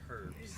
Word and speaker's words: herb: Kenny, it's pronounced herbs.